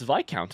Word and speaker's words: Viscount: I don't know that I've ever met a character in fiction that doesn't despise their mother-in-law, but also it's Viscount apparently. I didn't know that's how that's pronounced.